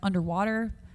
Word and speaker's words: UNDW3: It's like UNDW3, which is pronounced underwater.